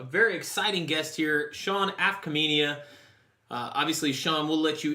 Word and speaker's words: Afkhaminia: This is Tyler Vaughan, your host, and I have on a very exciting guest here, Sean Afkhaminia.